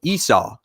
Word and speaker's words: Esau: Seesaw is his name, but without the first S. So Esau, right?